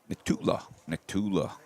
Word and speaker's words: Nikula: Nikula. That's how we say his name.